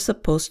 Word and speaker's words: supposed: Here, a two-syllable word, supposed, becomes more like one syllable, supposed.